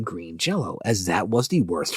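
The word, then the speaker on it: Green Jellÿ: madman behind the band makes it so it's pronounced Green Jello now the name of this particular madman is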